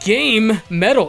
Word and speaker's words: GaMetal: game soundtracks that would be sweet I always pronounce that game metal is that wrong no that's actually the technically correct pronunciation I just say gamma metal because it's it's easier for me to say